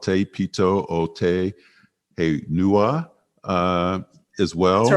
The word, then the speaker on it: Te Pito o Te Henua: Rapa Nui has also been called Te Pito o Te Henua as well. That's right. Te Pito o Te Henua, yes.